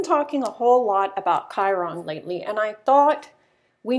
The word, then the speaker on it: Chiron: my hand for a long time I was pronouncing it chyron or Chiron or Shir on to but I actually looked it up and it's Chiron if you've been mispronouncing it don't worry it's